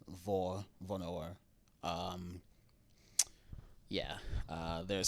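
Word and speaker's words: hvor: Um so, like if you see an H at the beginning of a word in Danish next to a V, the H is always silent, so it's not pronounced. So like vor vonor.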